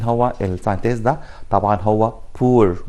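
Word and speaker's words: Bohr: طبعا هو بور، وما نلخبطش وننطقها بوهر، لا بور هو عالم الماني دايتش ساينتست او جيرمان ساينتست. طبعا كان اعتقد في الالماني ولانه مش دارسه قوي يعني ما بننطقش حرف الاتش في النص، فعشان كده بنقول بور مش بوهر.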